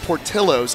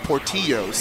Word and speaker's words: Portillo's: peppers and I just found out that it's pronounced Portillo's and not porteños yeah that that was the mix-up for me